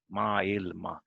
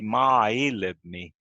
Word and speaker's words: maailma: So the stress is only on a, maailma. Yeah. Because sometimes in Sami I hear they say maailmi. They say it like they are still in two words, I feel.